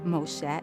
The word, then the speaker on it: Moxé: and I realized that the letter X would be pronounced like a show sound so I decided I'm gonna spell his name differently I'm gonna spell his name like X Moshe M Alexei and that